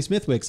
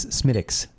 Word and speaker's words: Smithwick's: I have been saying Smithwick's all day. Right. Well, because that's how it looks to us who pronounce the TH like that. But in reality, I believe the pronunciation is Smithwick's.